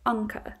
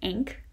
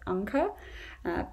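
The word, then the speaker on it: Anke: to a nuke um this may not work as well in the states because when there's an e at the end an american may say inc and if they've never heard the name so that's not really as pretty as anka but you kind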